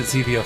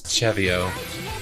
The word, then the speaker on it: CeVIO: The way it's pronounced Chevio, it feels like it should be Cevio. Yeah, I pronounced it Cevio for a while, but it is Chevio.